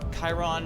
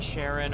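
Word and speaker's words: Charon: Chiron, Sharon, or Karen. I've seen a lot of pronunciations of that.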